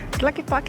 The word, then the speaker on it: Tlaquepaque: How do you pronounce this name, Gordon? Tlaquepaque.